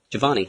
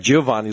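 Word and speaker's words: Johvonnie: Giovanni. Giovanni. Okay, I was going to say, I thought maybe you were saying it like Giovanni, like the Italian version, but Parents, that's not.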